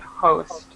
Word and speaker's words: host: of the paragraph host make sure to pronounce the h sound host host okay very good very good